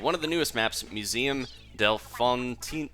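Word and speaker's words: Museum d'Alfonsino: of the newest Maps Museum Delon oh murdered that name Museum Delon Cino there we go that's how you say it all right I've got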